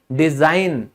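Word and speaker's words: design: बनावट, किसी चीज का बनावट यानी डिजाइन, डिजाइन, तो यहां हमने कभी इसको डिजाइन गन बोला है? नहीं बोला। क्यों? क्योंकि साइलेंट है रूल के हिसाब से। फिर होता है अभियान, जैसे कैंपेन, तो यहां भी ये साइलेंट है।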